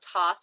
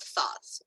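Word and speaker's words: Thoth: god tough and he likes to be called Toth or tote he does not like to be called thoughts even though it a lot of people pronounce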